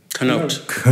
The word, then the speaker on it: Canote: the back door which is written by jerry canote note thank you i would have said it